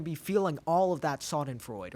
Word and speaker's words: Schadenfreude: And you're going to be feeling all of that Schadenfreude, or however you pronounce it. Yeah, Schadenfreude. Wow. You're also better in German pronunciation.